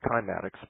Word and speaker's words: cymatics: And what John Reed is proving with the cymatics, which is the science of, affecting form with sound and changing form with sound, which is very profound. It can also be pronounced kymatics. Both are correct.